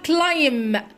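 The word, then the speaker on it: climb: أول فعل معانا هو كلايم، يتسلق. وما ننساش البي هنا سايلنت مش بننطقها، والسي بنطقها بصوت حرف الكي.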